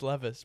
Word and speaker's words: Levis: Everyone says it's Levis, bro. It's Levis. Pronounce it right.